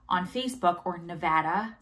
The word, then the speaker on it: Nevada: So I go on Human Milk for Human Babies, Nevada on Facebook, or Nevada. The locals tell me I say Nevada wrong. I say it like an East Coast person.